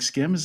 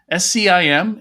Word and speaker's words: SCIM: today we are talking about a standard called skim i i assume you pronounce it like skims that's right can we say skim all day long okay s-c-i-m is how it's spelled uh s-k-i-m might be